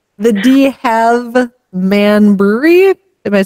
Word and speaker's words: Halve Maan: it's Halve Maan Brewery in Bruges.